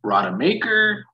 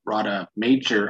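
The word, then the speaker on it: Rademacher: not good with names i don't know if his name is ingo radamaker or radha major i've heard both pronunciations either way the dude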